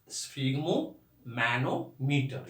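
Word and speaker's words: sphygmomanometer: लेकिन इसका प्रोनाउंसिएशन जो है स्फिग्मोमैनोमीटर, ये तोड़ तोड़ कर आपको बोलना है।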